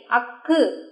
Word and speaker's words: ஃ: இதுதான் அக்கு, உச்சரிக்கும் முறை அக்கு.